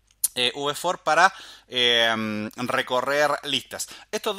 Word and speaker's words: v-for: for en este caso así se escribe la letra se pronuncia v v for para a recorrer listas